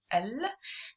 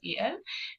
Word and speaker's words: ال: It is pronounced as al, and it is written phonetically as al, or in Ammiya or colloquial, some people write it as el or pronounce it as el, but spelling wise it's the same.